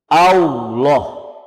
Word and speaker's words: Allah: sukun omgyes di W A llah kau bukan kau ya enggak ada huruf wau disitu yang ada huruf lam lam yang ditebalkan allah' jadi tidak ada huruf